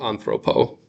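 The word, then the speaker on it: ἀνθρώπῳ: Does not pronounced different to to anthropo. So if there wasn't the Yoda, you could pronounce it same way. Yep. Exactly. The the Yoda subscripts does not change the pronunciation.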